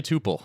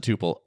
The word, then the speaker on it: Tuple: uh yeah um so am I pronouncing that right by the way it's actually Tupel. Uh, tupole. My bad. And everyone is well, that's that's not fair. We pronounce it tupal.